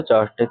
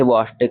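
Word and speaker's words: Chvostek: जब भी कैल्शियम का लेवल कम होगा तो चॉस्टिक साइन देखने को मिलेगा। इसे वॉस्टिक साइन भी बोलते हैं, CH कभी कभी साइलेंट करके कुछ लोग बोलते हैं।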